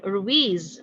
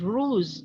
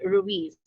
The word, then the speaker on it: Ruiz: The student pronounced the word Ruiz as ruse, and so his classmates and the teacher corrected immediately the student.